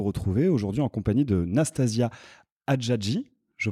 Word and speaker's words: Nastasia Hadjadji: Je suis très heureux de vous retrouver aujourd'hui en compagnie de Nastasia Hadjadji. Je prononce bien ?